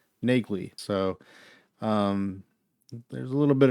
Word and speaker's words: Neagley: audiobooks, and I believe the pronunciation of her name is not Neely in the books, it's Nagley.